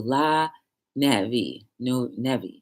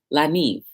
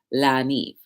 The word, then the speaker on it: La Neve: Anyway, the place in Helden, New Jersey, where I went to La Nevi. Yeah. So it's basically a catering hall in North Helden, New Jersey. It's LA, La Neve. That's what it is. La Neve.